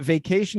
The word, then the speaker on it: vacation: So just remember that vacation is a top 10 missed word.